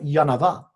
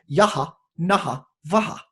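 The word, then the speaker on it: Yaha Naha Vaha: And he said, it's actually not Yanava. He said, it's Yaha, Naha, Vaha.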